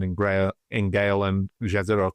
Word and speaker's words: Jezero: Gra in Gale and Jezero crater or Yzido crater I think it's pronounced it's also why we're